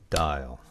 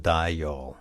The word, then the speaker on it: dial: right that you dial in English it's dial just one so ball instead of die y'all it's actually dial I